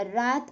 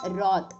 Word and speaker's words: wrath: இதை wrath அப்படின்னு சொல்லலாம், இல்லை wrath அப்படின்னு சொல்லலாம். W is silent here.